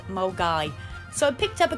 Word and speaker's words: Milngavie: the name of the place and it's actually pronounced molgai so i picked up a couple of last